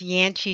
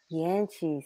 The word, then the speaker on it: Llanchie: mom's first name sure um it's yanchy stevenson yanchi stevenson yeah i would have said